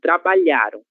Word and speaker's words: trabalharam: Porque nós temos aqui trabalharam, a sílaba tônica será lhá, certo?